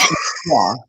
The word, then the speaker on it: LaCroix: Matthias, did you drive Philip to it's pronounced LaCroix, by the way. LaCroix or LaCroix, but LaCroix. I have some in my fridge. LaCroix, it rhymes with joy.